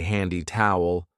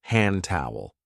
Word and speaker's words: hand towel: We don't usually say handy towel. We link it and we say hand towel.